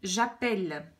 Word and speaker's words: j'appelle: Je vais donc dire j'appelle, 2 L pour que le E se prononce est.